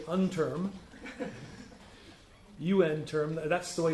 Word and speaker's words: UNTERM: It's called UN Term. I love it when some people say unterm. UN Term, that's the way it's pronounced.